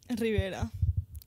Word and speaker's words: Rivera: You need to pronounce it like an American. Rivera.